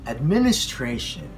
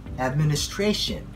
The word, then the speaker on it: administration: Again, many of us pronounce this word as administration. Administration. So instead of pronouncing that way, we say administration. Administration. The stress is on the fourth syllable.